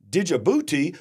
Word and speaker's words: Djibouti: Okay, I think the D is silent.